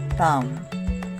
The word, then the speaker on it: thumb: ivan prescottish sean don't pronounce the b after m in the following words thumb thumbing climb climbing climber